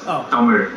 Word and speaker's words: Tamil: The English pronunciation is Tamil. No, I said the Telugu. Actual pronunciation is Tamil.